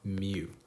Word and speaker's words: mu: symbols so this symbol right here is called mu it stands for the population mean or in parentheses i'm going to write average um and i'm going to say put a little asterisk here pronounced um mu all right so that's population mean the x